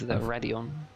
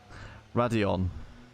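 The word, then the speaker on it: Raidillon: Yeah, I'm going to have to correct your pronunciation of that corner. I'm afraid it is Radion. Radion.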